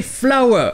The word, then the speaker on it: flour: Ces deux mots sont flower. Oui, ils se prononcent bien exactement de la même façon. Flower. Et bien sûr, celui avec OWE, c'est une fleur. A flower. Mais flower avec OU, c'est de la farine.